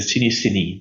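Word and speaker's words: Cinéscénie: They have a show that is already running for 48 years, which is the Cinesceni. That's how we pronounce it, Ellen. The Cinesceni.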